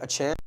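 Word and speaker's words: Achane: Tagovailoa had a good game, 309 yards, 4 TDs, and Devon Achan, I think Achan is how he prefers to have it pronounced.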